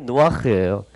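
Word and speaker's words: נח: 그래서 뭐냐면 이게 노아흐. 노아의 원래 히브리식 발음이 노아흐예요. 해보실래요? 노아흐.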